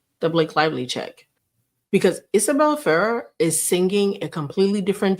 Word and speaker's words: Isabella Ferrer: Look, I learned how to say this girl's name, Isabella Ferrer.